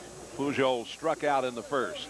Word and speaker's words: Pujols: So the first baseman, Pujols, I believe normally that J would be silent, but I think he does give pronounce it a little, yeah, Pujols, huh?